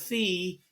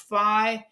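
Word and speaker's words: φ: the past I've used the Greek letter F Phi but it's actually pronounced fi and I'm going to rotate this thing around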